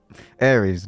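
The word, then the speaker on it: Ares: Aries like the war god.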